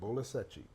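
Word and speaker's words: Bola Sete: Bolasete. Bolasete. It's like spelled like Seti, Sete, but Seti.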